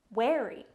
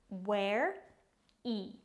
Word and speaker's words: wary: Wary, pronounced ware-e, ware-e, wary.